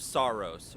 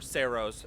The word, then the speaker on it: Saros: Welcome to my review of Saros, or Saros, however you prefer to pronounce it.